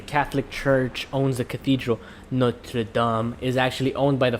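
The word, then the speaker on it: Notre-Dame: Notre Dame.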